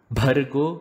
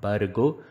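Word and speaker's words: भर्गो: So it should not be Bhur Bhuvaha. It should be Bhur Bhuvaha. Bhargo and not Bhargo. Dhimahi, not Dhimahi. Dhiyo, not Dhiyo.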